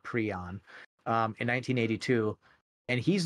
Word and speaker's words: prion: the term prion and he actually pronounces it pre on um in 1982 and